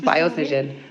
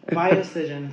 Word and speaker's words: BioScision: BioScision. The BioScision. BioScision.